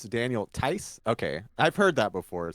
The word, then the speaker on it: Daniel Theis: So Shadow's saying, "Oh, okay, the H is silent, so it's Daniel Tice."